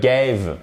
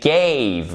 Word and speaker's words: gave: Et c'est pas des gave. Non, they gave. Là aussi, il y a cette diphtongue.